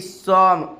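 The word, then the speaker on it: some: एस ओ एम ई सॉम क्या उच्चारण होगा एस ओ एमई का सम सम का हिंदी क्या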